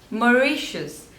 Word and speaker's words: Mauritius: Next is Mauritius, Mauritius. So there are three syllables and stress is on the second one, Mauritius, Mauritius, Mauritius, Mauritius.